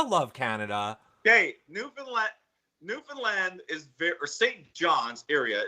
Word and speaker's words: Newfoundland: say newfound land you don't pronounce it like that oh crap okay good to